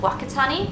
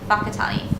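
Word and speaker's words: Whakatāne: Like this spelling here, you would think is pronounced Wakatani, but it's actually pronounced Wakatani.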